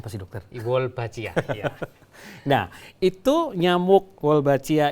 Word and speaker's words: Wolbachia: Bacanya apa sih, dokter? Wolbachia, ya.